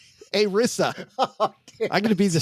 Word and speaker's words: ERISA: ERISA. That means we're going to pronounce it ERISA then. A Rissa.